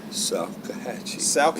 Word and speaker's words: Salkehatchie: Salkehatchie.